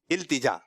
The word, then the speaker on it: التجا: صحیح تلفظ جو ہے نا وہ ہے التجا.